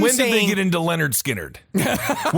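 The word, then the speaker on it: Lynyrd Skynyrd: Yeah, I think it was pronounced Leonard Skard.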